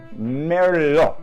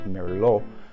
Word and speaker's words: Merlot: Merlot, right? In France, that's how they pronounce it, Merlot.